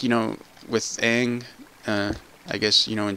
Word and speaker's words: Aang: Chinese, which, you know, the name is kind of, it is more of an ang, where it's a softer sound, not a g sound at the end, like we say it.